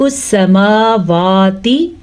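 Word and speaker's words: السَّمَاوَات: جاتی ہے۔ ملک السماواتی، سین کے اوپر صرف اور صرف زبر ہے، اس کو ہم لمبا نہیں کریں گے زبر کی وجہ سے۔ میم اور واو کے اوپر کھڑی زبر ہے تو اس کو ہم کھینچ کے پڑھیں گے، کیسے؟ ملک السماواتی والارض۔ را ساکن سے پہلے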